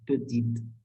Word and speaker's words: petite: And in this feminine form, we are ending with E. That's why this E is silent. And we are pronouncing it as petite.